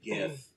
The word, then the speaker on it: GIF: It was an animated GIF where I said GIF with the hard G. Not a GIF.